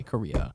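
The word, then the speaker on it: Corriea: Korea c o r r i e a Korea okay that is not even that's no I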